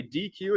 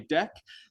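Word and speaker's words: deque: pronouncing things correctly again this data structure right here is not called a DQ it's called a deck This Acronym right here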